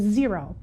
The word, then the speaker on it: Xero: to talk about is zero and zero is spelled x-e-r-o we do use zero